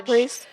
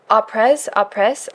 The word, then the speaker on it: après: Apres. Wait, how do you say that? I was thinking après. It's French.